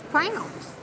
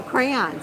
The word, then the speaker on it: crayon: they first got married he kept saying would you go pick up those crowns and she's like i don't see any crowns he's like no those crowns and she's like i don't know what you're talking about they were crayons but he said crowns that's a georgia thing orange orange orange orange